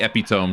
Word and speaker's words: epitome: Uh, also, can I say that I hate how epitome is not pronounced how it should be? Yeah, it should be epitome, shouldn't it? It's like hyperbole as well. Both of those are the same. Epitomy and Hyperbole.